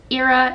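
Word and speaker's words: Eira: Ira is her name. It's spelled E-I-R-A in case you're curious.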